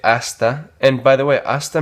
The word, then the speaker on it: hasta: Hasta, again, the H that is silent.